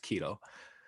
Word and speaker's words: Kaido: The fact that currently in One Piece he did actually switch it to his left to fight against Kaido. That's how it's pronounced.